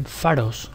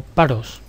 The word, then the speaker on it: Pharos: que sería la dango de faros o paros se escribe p h a r o s y bueno esta dungeon